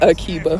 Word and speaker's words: Akiba: Is it Akiba? It's Akiba.